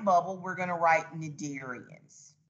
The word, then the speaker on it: Cnidarians: we're going to write nadirians see the c is silent and remember in the